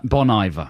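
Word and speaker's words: Bon Iver: a man I think you're supposed to pronounce it I bon bon IA like the French for like IA the engine I Bon IA the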